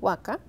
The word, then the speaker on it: huaca: Él dice: esta misma dicción huaca, pronunciada la última sílaba interior, en lo más interior de la garganta, se hace verbo, quiere decir llorar.